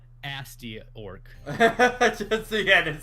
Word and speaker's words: Gnasty Gnorc: Nasty Gnorc. Gnasty Gnorc. Because there's a G in front of it. I'm sorry, it's quiet. Asty Orc.